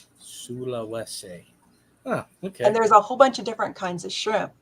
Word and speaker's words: Sulawesi: Sulawesi. Sulawesi.